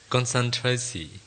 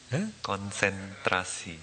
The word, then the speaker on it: konsentrasi: Concentrasi. Is my pronunciation right? No. Concentrasi. Konsentrasi. Konsentrasi.